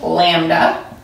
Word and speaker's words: lambda: Wavelength is abbreviated as lambda. This is from the Greek alphabet. Okay, it's pronounced lambda.